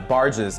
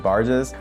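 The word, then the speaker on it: Burgess: I'm pronouncing that incorrectly it looks like it's spelled like B burges but I think it's pronounce it barges but you know he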